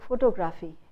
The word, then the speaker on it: photography: उसको photography. Instead of photography, the stress shifts. The suffix is e. So the syllable before the suffix will take the stress, which is photography.